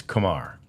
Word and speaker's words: Kumar: most of the media it's like Lamar It's Kamar uh which is a good way to remember it and uh that is how the correct pronunciation of of rocker's name is Kamar rocker it's it's so